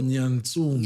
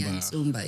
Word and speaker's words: Nyatsumba: Oh, Nyatsumba. Nyatsumba, yes.